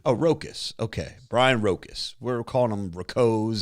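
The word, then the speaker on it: Rowkiss: says his last name is rocus rocus r-o-w-k-i-s-s pronunciation oh rocus okay brian rocas we're calling them rakos and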